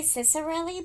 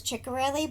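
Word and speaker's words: Ciccarelli: Somebody told me how to pronounce this. Cherelli. I always want to say Ciserelli, but I heard that there was another booktuber who asked her how to say her name, and she said it was Chikorelli, but she answers to anything really.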